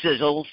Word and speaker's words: Sisel: folks this is about sizzle international and a lot of people have a problem with the pronunciation it's actually pronounced like sizzle spelt sa z ZL